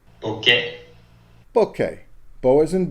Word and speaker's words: bokeh: the correct pronunciation of bouquet okay bouquet boas and bow as in bow tie keh keh as in kenneth okay here's another way